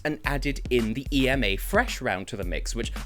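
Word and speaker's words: Freš: added in the EMA Fresh round to the mix, which I love that, by the way, just like F-R-E-S with a caron, but it's pronounced fresh because it's the same word.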